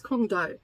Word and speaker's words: Guangdong: It's set in China, and Shanghai, and I think it's Guangdong is how you say it.